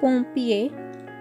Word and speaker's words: pompier: You must have noticed that in the last word, pompier, I have pronounced a little of M. In the other words, I have pronounced on for OM. But over here, OM is not at the end of the word, so we will give a little M sound in it.